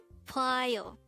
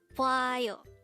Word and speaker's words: 봐요: BWAYO. BWAYO. This is composed of two syllables. The first syllable is BWA and the second syllable is yo.